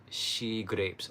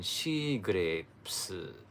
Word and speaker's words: SHEGLAPES: delicacy in Okinawa so SE grapes became she grapes with the Japanese Katakana pronunciation but then the